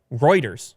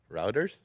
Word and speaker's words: Reuters: this story coming via Reuters one of your favorite one of your favorite news sources to pronounce yeah so go ahead it's Reuters Reuters routers routers that's what you said the one time so yeah the world